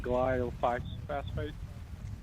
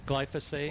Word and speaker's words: glyphosate: Well, it's 43% uh how do you pronounce it? Glyph phosphate. Glyphosate.